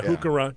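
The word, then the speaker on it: Heuchera: Yeah, Hookera. Depends on where you put the accent. Right. Yeah. One, when you're pronouncing botanical names, you should remember that CH is always K.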